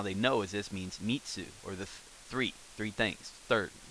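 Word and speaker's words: 三つ: So what we're going to learn is third is pronounced in Japanese mitsu, mitsu, and the character or how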